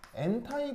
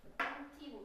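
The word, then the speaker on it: anti: 안티고 엔티? 아, 나 안티라고 했는데. 아, 그래요? 아. 안티, 엔타이 다 쓸 수 있는 발음입니다.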